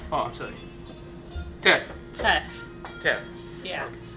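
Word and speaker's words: teff: a a grain called um small grain called te oh I'm sorry te te te yeah okay how you spell that t e FF t e FF okay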